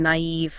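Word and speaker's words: naïve: Now, at the diaeresis, those 2 little dots, like in naive, Na- it shows us that 2 vowels next to each other should be pronounced separately. Okay, so it stops them from blending together.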